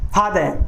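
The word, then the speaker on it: father: अगला देखिए फादर, इसमें रे को प्रोनाउंस नहीं करेंगे क्योंकि रे के बाद में वाउल साउंड नहीं आ रही है।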